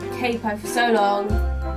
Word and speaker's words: capo: The first one is actually a capo. I know Americans say capo, and I have gotten used to saying it like that, but I need to start saying capo because otherwise music shop